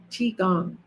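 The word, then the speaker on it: qigong: IT addresses it okay so how do you spell that CH is Qi g o n g CH gong and that's what I'm doing is Yoga infused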